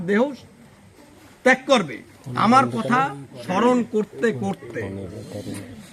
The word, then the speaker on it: স্মরণ: উচ্চারণটা কিন্তু স্মরণ, আগের ভাবে বললাম আর কি।